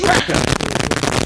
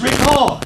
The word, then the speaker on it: record: If you're talking about the verb, it's record. That's correct. Now, I didn't make that up, right? That word, not only is it classified differently, but it's even pronounced differently with the same letters.